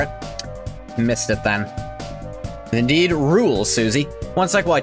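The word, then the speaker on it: Rouxls: You read that is rolls. It's rules because there's a character named rules card and his theme song I think is called it's pronounced rules which I can identify with because it's pronounced fish.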